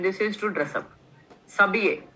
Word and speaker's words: s'habiller: S'habiller. Next one is s'habiller. H is silent.